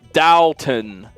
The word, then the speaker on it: Downton: it wrong it's an Abbey it's downtown it's Downtown Abbey I don't know what you want from